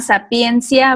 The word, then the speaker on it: Sapientia: Se llama Sapiencia Blog, se escribe Sapientia, es sabiduría en latín.